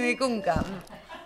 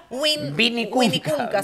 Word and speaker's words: Vinicunca: Vinicunca. Vinicunca se pronuncia.